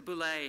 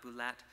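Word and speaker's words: Bulette: Yes, and the Boulet has E-T-T-E on the end, but you still pronounce it Boulet, not Boulette.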